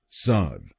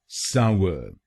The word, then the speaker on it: sour: इसकी सही प्रोनाउंसिएशन है सावर। सावर। इस शब्द में दो शब्दांश हैं। पहला शब्दांश है SOU और दूसरा शब्दांश है UR। पहले शब्दांश को यानी SOU हम बोलेंगे साव, साव, और दूसरे शब्दांश को यानी UR हम बोलेंगे अर।